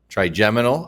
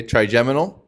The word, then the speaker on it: trigeminal: Spell it. Oh, that's, Trigem. G-E-M-I-N-A-L. Trigeminal. I-N-A-L. Okay. Trigeminal.